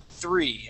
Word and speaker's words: three: Now, I want to practice your TH sound. Okay. Two words specifically, thought and three.